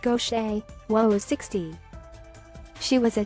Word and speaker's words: Gauthier: a second career for gothier pronounced gaucher woes 60 she was